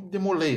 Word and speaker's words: Jacques de Molay: Os templários, eu digo mesmo com relação a eles, o Jacques de Molay, o pessoal chama muito de Molay, né? Mas a pronúncia certa é de Molay.